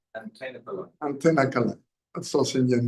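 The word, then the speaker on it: Thenkalai: Okay, so I pronounced it completely wrong. Say it again. Vadakalai and Tenakalai.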